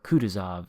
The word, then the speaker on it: Kutuzov: premium cruisers wichita and kutuzov are returning to the game or kuduzov as most everybody except me pronounces it kuduzov is the new